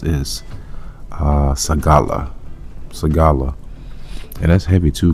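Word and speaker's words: סְגֻלָּה: So we go into that word peculiar in the Hebrew, and that word pronounced is sagala.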